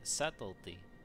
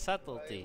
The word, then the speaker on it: subtlety: it's a subtlety you the B is silent it's not there yeah you know you